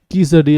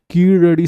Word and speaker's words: கீழடி: நிறைய பேருக்கு இது இங்கிலீஷ் சேனலில் அதை ப்ரொனவுன்ஸ் பண்ண தெரில, கீசடி அப்படிலாம் படிக்கிறாங்க. அது தமிழுக்கே உரிய ழகரம். ஸோ கீழடி சைட் இன் தமிழ்நாடு, இந்தியா.